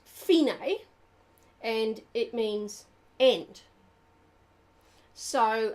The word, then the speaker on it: fine: of the second line dc alphone it's actually pronounced phenae and it means end so uh phenai means n dc alphena is short for da